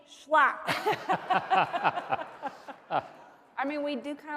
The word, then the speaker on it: Schlapp: with sarah mercedes slapper larry got my name wrong my name is mercedes huckabee schlapp i mean we do